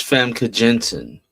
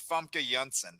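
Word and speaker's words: Famke Janssen: I said the same thing for years until I heard her say her own name. And apparently it's Funka Junen is how you say it.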